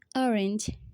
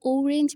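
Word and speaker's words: orange: যেমন অরেঞ্জ, আমরা কিন্তু ওরেঞ্জ বলিনি, আমরা কিন্তু বলেছি অরেঞ্জ, অরেঞ্জ, অরেঞ্জ।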